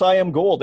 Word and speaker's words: Iamgold: genuine one and I'm wondering how do you pronounce I am gold am i pronouncing that correctly just like you